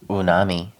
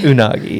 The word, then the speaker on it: unagi: rolls have rice yeah unami it's unagi unagi yeah dumb when he